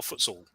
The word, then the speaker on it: futsal: I've long wondered this is it for sale or Futsal it's either so okay good it